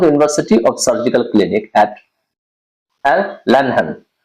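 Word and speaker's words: Erlangen: of surgical clinic eight N लहन याद रखिएगा इसको ऐसे ही प्रोनाउंस करेंगे एल लहन ठीक है कहते हैं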